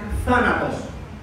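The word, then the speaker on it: θάνατος: poner en en español la pronunciación es una es como una z española, por eso se dice zanatos.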